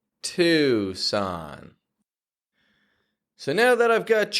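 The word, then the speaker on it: Tucson: Arizona to Son Louisiana if you're in any of those places and you've been pronouncing it no New Mexico or Tuan then there's a simple change that you can make to pronounce that location easier to to son so now that I've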